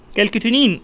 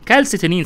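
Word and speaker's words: calcitonin: كالكيتونين اللي هو او الكالس، على فكره بتتنطق كالسيتونين صح برضو كده، واضح اهو.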